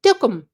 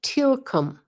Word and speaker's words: TLKM: He said, Tookum. And I said, slower. He said, Tilkum. And I said, Tilkum, like Teal, like the color, come, like come here.